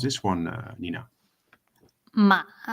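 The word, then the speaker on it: 妈: Um uh Nina, the first word will be ma. Okay. So it's ma. Yeah. And that we call the first tone or the uh singing tone.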